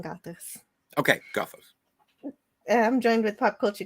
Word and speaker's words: Gothos: It's Gothos, yeah. Okay. I Today just wanted to check the pronunciation. For today, we're saying Gothos. Okay, Gothos.